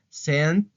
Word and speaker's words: sent: Aquí el verbo lo tenemos en pasado y se pronuncia sent, tiene que escuchar esa T, send, y aquí es send con D, send, ¿ok?